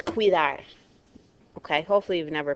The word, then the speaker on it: cuidar: through here okay it's cuidar okay hopefully you've never pronounce this word see you that okay it is qui qui Dart we cannot break a diphthong here guys it has to stay together and when we divide